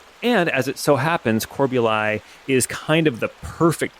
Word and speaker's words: Corbului: So it's spelled Corbului, but everybody calls it Corbuli.